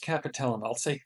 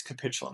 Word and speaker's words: capitulum: The capitulum, or it might be pronounced capitellum, I think it's capitulum. The capitulum is the smooth